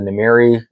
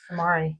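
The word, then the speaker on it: Namaari: I think only the Namiri is worth more. Hopefully, I'm pronouncing that right. Namari.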